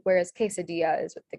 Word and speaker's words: quesadilla: If you ever have the K sound in Spanish, that's spelled with a QUE. So this word is quebracho, queña, quesadilla, quebrada, quebracho.